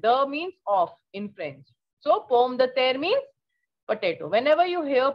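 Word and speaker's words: pomme de terre: the there the means of in french so pom the there means potato whenever you hear poem the tear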